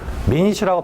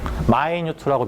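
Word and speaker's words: minute: 타인이란 단어 할 때 좀 있다 물어볼테니까 선생님이 여기다가 미니치라고 발음하면 안 돼. mt m꼬양이라고만 쓸 거예요. 마이뉴트라고 미리 발음해 놔. 마이뉴트 미니 m뉴t. 근데 마이뉴트로 발음해야 돼.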